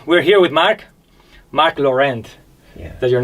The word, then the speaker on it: Laurent: yeah yeah it it it's originally it's french so it'd be lauren that's what i was going to say everybody in new zealand says so i yeah yeah